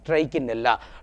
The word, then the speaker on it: Trichinella: Just you observe the pronunciation of the words, two words. Here it is Trichomella, M, but the nematode parasite is Trichinella, N is there.